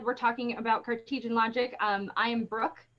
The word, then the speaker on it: Cartesian: get him yes i always call it cartisan i don't know why i always say it wrong but it's cartesian logic we're going to talk